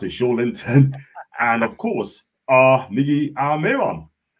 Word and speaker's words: Joelinton: Bruno Joelinton, that's how you pronounce it, Joelinton, and of course, Miggy Almirón.